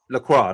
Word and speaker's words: Lacroix: You said you knew somebody called Lacroix, or how do you pronounce that boy? He got sent off. What's his Lacroix, name? Lacroix.